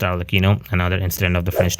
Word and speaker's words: Arlecchino: teased the Nave arino yes her name is pronounced arino another incident of the French n clature regardless